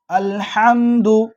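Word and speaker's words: الحمد: சூரத்துல் ஃபாத்திஹா நம்ம ஆரம்பிப்போம் அல்ஹம்து அல்ஹம்து நிறைய பேரு அல்ஹம்து அப்படின்னுவோம் அல்ஹம்துக்கு பதிலா அல்ஹம்து அப்படின்னுவோம் சில பேர் ரொம்ப மோசமா அல்ஹம்து அப்படின்னுவோம் அப்போ இது எல்லாமே அர்த்தத்தை மாற்றக்கூடியதாக இருக்கு தெளிவான உச்சரிப்பு என்னது அல் அல்ஹம்து அல்ஹம்துலில்லாஹி சொல்லுங்க அல்ஹம்துலில்லாஹி ரப்பில் ஆலமீன்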